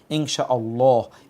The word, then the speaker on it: ইনশাআল্লাহ: আমরা ইনশাআল্লাহ বলি না আমরা বলি ইনশাআল্লাহ সেজন্যে ইনশাআল্লাহ এভাবে উচ্চারণ করার জন্যে আমরা আপনাদেরকে বলব লেখার সময়ও